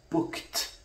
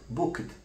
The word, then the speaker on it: booked: hotel for example it's booked not booked again the D here is devoiced by virtue of its occurring immediately after a voiceless segment please you know for